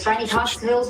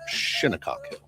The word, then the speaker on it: Shinnecock Hills: Well, if you make the I a long I sound instead of shin, you say shy. And then the E, you make also a long sound instead of a short E.